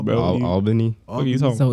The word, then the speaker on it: Albany: How do you say Albany? Nigga, Albany, bro. Albany. What are you talking? So it's not Albany? Nah, bro. You be pronounced. Albany. Nah, that's I kind of say Albany without the L, Albany.